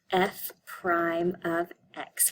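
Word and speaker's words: f′(x): an apostrophe X um we the way we pronounce this is f Prime of X so that's how you say that F Prime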